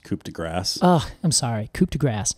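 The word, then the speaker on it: coup de grâce: real the real uh coup de gras to tell them apart is the cone I don't mean to embarrass you but it's pronounced coup de grass oh I'm sorry cooped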